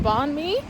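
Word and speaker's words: bánh mì: I think that's how you pronounce it, banh mi.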